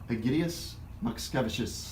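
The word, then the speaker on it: Egidijus Mockevičius: Egidius Makskevicius.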